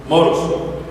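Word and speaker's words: μωρός: original para tonto es moros así como moros y cristianos con acento en la o moros y esta palabra pone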